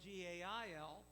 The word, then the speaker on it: Gaal: Now we read about Gaal, G-A-A-L, You pronounce it like a woman's name, Gail, G-A-I-L.